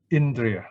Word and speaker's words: indriya: We pronounce E, the sound, the value of the letter I is E, short E, no? Indriya, okay?